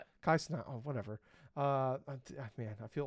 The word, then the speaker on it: Kai Cenat: We got Cadril, Kai Kinet, Moist Critical, Okay. Did I say it wrong? Kai Cenat.